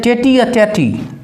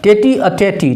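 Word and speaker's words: tête-à-tête: तो बड़ा सुंदर सा है क्या कहता है टेटी अ टेटी है ना टेटी अ टेटी टेटी अ टेटी ये एक फ्रेंच वर्ड है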